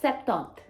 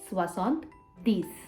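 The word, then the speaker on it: soixante-dix: was the same but 70 is not septon it's swasant these if 70 is what's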